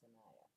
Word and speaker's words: Sanaya: Sanaya or Shania? It's called Sanaya. Sanaya, pronounced Sanaya.